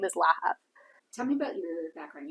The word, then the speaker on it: Lahav: family but the actual correct Hebrew name is laab tell me about your background you were at